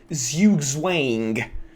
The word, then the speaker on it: zugzwang: at the same time the term is zugzwang by the way but at least i hope i'm pronouncing it somewhat correctly though if you think i'm doing a bad job at it an official chess lesson pronounces that as zugswang so yeah you know